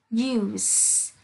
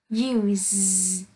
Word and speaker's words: use: Dự như you là danh từ sẽ đọc là use, nhưng you là động từ sẽ đọc là use.